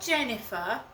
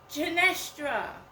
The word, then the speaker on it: Genestra: Not Jennifer, Genestra.